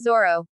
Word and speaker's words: Zoro: "Beware, for I am the infamous pirate hunter Ronoro Zoro," the child shouted as he swung wildly at another child but missed. "Oi, it's Zoro.